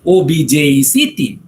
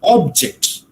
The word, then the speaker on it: object: use a word like obj ect okay you can give the stress on the first syllable or on the second syllable right when you say